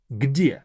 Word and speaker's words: Где: Где. Even though it's a short word, it's not that easy to pronounce. Где. 2 very hard consonants. G, D, где.